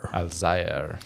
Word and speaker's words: Alzayer: Alzayer? Alzayer.